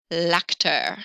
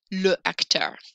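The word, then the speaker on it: l'acteur: nobody likes in french they don't want that uh sound so they say lacter instead of le actor so i'm going to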